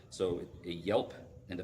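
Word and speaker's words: gielp: Yelps and Bs so a Yelp and it's spelled g i e l p and in the Old English and the old sax that g says a y kind of sound uh if it prefaces a vow so a Yelp and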